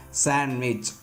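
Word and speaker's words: sandwich: கீழ்காணும் பொதுவான வார்த்தைகளில் டி என்ற எழுத்துக்கு ஒலி வடிவம் இல்லை. ஸோ இந்த மாதிரியான காமன் வேர்ட்ஸ்க்கு டிக்கு ப்ரொனன்சியேஷன் கிடையாது. அந்த இடத்துல என்ன ஆயிடுதுங்க, டி சைலண்ட் ஆயிடுது. ஃபார் எக்ஸாம்பிள் பாருங்கள், வெட்னஸ்டே, ஹேண்ட்ஸம், ஹேண்ட்கர்ச்சீஃப், சாண்ட்விச் இந்த மாதிரி இதில் எல்லாமே நாம் என்ன பண்ண மாட்டோம், டியை ப்ரொனவுன்ஸ் பண்ண மாட்டோம்.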